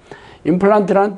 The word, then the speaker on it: 임플란트: 플란트는 독일식 발음이에요. 영어로는 플랜트가 되겠지.